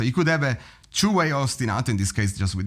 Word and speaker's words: ostinato: So ostenato because I'm Italian I'm ostenato not to pronounce it correctly as they do but they they changed the pronunciation.